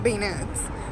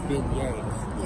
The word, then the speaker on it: beignets: I've been saying it wrong all this time. I was saying beignets until they corrected us. Beignets. Yeah. They sound like Yeezy shoes.